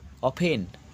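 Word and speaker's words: often: উচ্চারণ নেই লিসেন শোনা ও এফ টি এন দেখো অফেন টি এর উচ্চারণেই প্রাই সে আচ্ছা তারপরে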